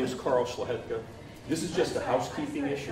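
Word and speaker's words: Szlachetka: My name is Carl Schlahetka. This is just housekeeping issue. I didn't get the last name. Schlahetka.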